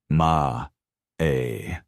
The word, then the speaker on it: Amae: The Japanese concept of Amae, pronounced ma-e, is a psychological notion without a perfectly accurate translation in Western languages.